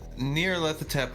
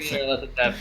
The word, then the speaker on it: Nyarlathotep: He was Nyarlathotep was originally called internally by David Nargle Bargle. Because he couldn't pronounce. Saying Nyarlathotep is hard.